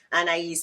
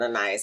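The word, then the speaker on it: Anaïs: I love it because anise Mitchell I think she even pronounced it anas Mitchell I'm up here butchering her name um that she wrote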